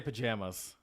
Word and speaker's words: pajamas: It's apparently in the South they're saying pajamas, right. which I guess makes sense. They tend to draw out their A's and ah, so I guess that makes sense when you think about it.